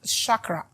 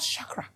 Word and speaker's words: chakra: I didn't say chak you can't pronounce it chak chak it is called Shakra Shak and I simply